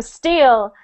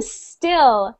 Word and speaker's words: still: So you don't want to say, I am steel. You're trying to say, I am still, like I am continuing, I am still happy, I am still...